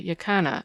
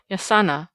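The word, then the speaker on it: jacana: spot a still more interesting bird was the yakana as it is spelled in books but pronounced yasana by the Indians of Paraguay a quaint rail-like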